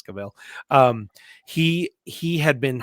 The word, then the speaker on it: Cavill: scenes that henry cavill cavill for those of you who pronounce it that way but i believe it's cabell um he he had